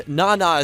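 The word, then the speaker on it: nana: of the show and naana is how you say 7 in Japan so there are many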